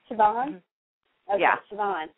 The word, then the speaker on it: Siobhan: Siobhan. She's going to be playing the role of Siobhan in the upcoming Twilight Saga, Breaking Dawn Part 2.